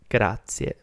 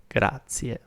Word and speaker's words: grazie: But for now, just remember that the way to say thank you is grazie, grazie.